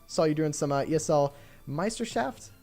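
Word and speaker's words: Meisterschaft: you're doing some ESL Meister shaft that's how you pronounce it some of us some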